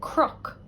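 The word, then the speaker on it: cnoc: For example, the word for hill, I would say crook, even though it looks like Canuck. But when we have CN together, in Ulster and Connacht, it gets pronounced like crook.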